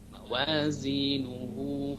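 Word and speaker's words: مَوَازِينُهُ: qasirah, dibaca dua ketuk, mawazinuhu fa ummuhu, ya. Bedanya kalau mad silah ini, ya, mad silah qasirah ini dibacanya ketika wasol, ya. Ketika waqaf tidak, ya. Ketika waqaf tidak dibaca tapi dibaca sukun, mawazinuh, ya.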